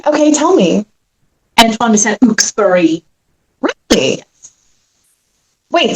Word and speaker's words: Saint-Exupéry: Antoine de Saint-Exupéry. Really? Wait, say it. Antoine de Saint-Exupéry. Exupéry. I love it. I've said it wrong my entire life. Just like I said Carrie Elwes's